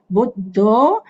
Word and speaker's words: Buddho: Itipiso, Buddho, remember the double D, Buddho.